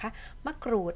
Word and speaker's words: มะกรูด: ๆ ไว้ นะ คะ มะกรูด เวลา เรา อ่าน ออก เสียง กรุด ใช่ ไหม คะ มัน จะ ต้อง อ่าน ก ไก่ กับ ร เรือ พร้อม กัน ใช่ ไหม คะ เด็ก